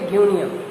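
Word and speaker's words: Guinea: और जो अफ्रीका में आपका बेल्ट है ग्यूनिया, इसका प्रोनाउंसिएशन करेंगे ग्यूनिया।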